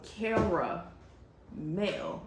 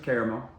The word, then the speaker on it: caramel: So, I I don't I don't Well, it's also car male. It's two girl names. Okay, let's let's just It's It's car car carl caramel. Care is spelled with an e at the end of it. So, just saying. But this is uh this is salted caramel caramel. See, I said it wrong then. Even after defending how I said it, I said it wrong. So, it goes either way.